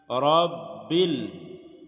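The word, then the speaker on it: رَبّ: লিল্লাহি, লিল্লাহি, আলহামদু লিল্লাহি, রব্বিল, রদ এবারে আমরা ধরবো যেহেতু উপরে তাসদীদ তিন কাটা, এটা হলো তাসদীদ, আর তাসদীদ ওয়ালা হরফ দুইবার উচ্চারণ করতে হয়।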